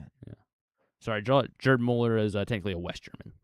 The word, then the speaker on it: Gerd Müller: Gerd Müller Gerd Gerd Müller call him Gerard.